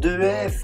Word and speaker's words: EF: find out more about EF EF what is it? It's education first so we should pronounce E.F. by the way but hey it's not a big deal we will say EF